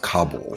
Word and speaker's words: Kabul: A listener who doesn't know Afghanistan very well will say she just mispronounced Kabul.